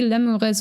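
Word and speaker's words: lemures: can't be 100% sure how Latin was actually pronounced but it should be lures also limo yeah so lurus is obviously how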